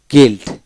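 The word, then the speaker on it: guild: বেলডিং বেলডিং তারপরে গিলড গিলড জি ইউ আই এলডি গিলড তার মানে কি জি আই এলডি গিলড উচ্চারিত হবে তারপর গার্ড জি এ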